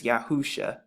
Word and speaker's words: Yahusha: all make the exact same sounds yahusha and we put it together it's yahusha so those are some